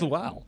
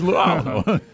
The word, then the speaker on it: Lou: But his name is Luau. It's Lou. Nickname Lou. You know these nicknames are Lou. You got to call him Lou. You got to one syllable that thing Lou every Will.